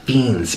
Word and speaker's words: Fiends: And it's pronounced Fiends, Best Fiends.